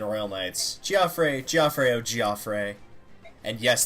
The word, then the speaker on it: Geoffrey: And yes, that is how you pronounce his name. It is not Jeffrey. It is actually said by the narrator in the prequel of this game, and I know for a fact it is Geoffrey.